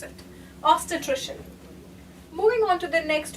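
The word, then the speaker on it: obstetrician: This is how you pronounce it. Ostitrician.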